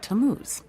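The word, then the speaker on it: Tammuz: His name is Tamuz. To what? T A M M U Z. It's pronounced Tamuz.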